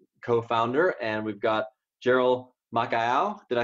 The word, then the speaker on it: Makaiau: I've also got Steve Zarpas, co-founder, and we've got Jheryl Makaiau.